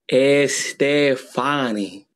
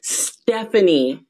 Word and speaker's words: Stephanie: Estefani. No, it's pronounced Stephanie. Uh-huh, Estefani. Stephanie, it's easy. Can you just say Stephanie?